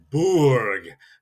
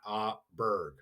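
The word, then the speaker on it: Burg: And then a castle is a borg, not aberg.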